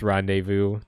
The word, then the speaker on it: rendezvous: Yes, I know it's rendezvous.